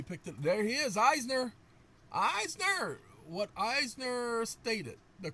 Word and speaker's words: Eisner: I was pronouncing an Elner because of it being on my t my computer. Let's see if he picked it. There he is. Eisner.